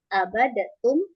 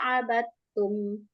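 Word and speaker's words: عبدتم: dikol-kolkan abad ta, bukan, karena dal sama ta itu idgham mutajanisain, jadi diidghamkan ke huruf ta. Nah ya, karena ta sama da itu makhrajnya sama, jadi teman-teman bacanya nggak usah abad ta, abadatum, abadatu, salah, kecuali abadna,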